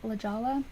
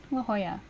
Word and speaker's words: La Jolla: first moved here i thought la jolla was lijala i definitely called it that a couple times and my husband would just laugh at me you're like that's not how you say i'm like how do you say it la jolla oh um yes me